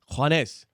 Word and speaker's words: Juanes: Juanes. Juanes. Juanes. Juanes. Juanes. Like one and then S.